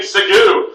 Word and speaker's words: segue: There's no W.